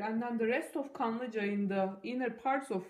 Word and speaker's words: Kanlıca: So this is what it is, Kanlıca. So this word here, K-A-N-L-I-C-A, Kanlıca.